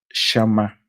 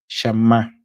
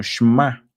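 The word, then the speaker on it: שמע: Es la palabra que se pronuncia en español shama. Shamá. O he escuchado también que le que la pronuncian como shma o shemá.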